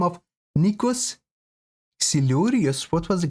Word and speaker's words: Nikos Xilouris: I think we're gonna listen to the song of another iconic and beyond legendary Greek artist in the name of Nikos Xilouris. What was the correct pronunciation?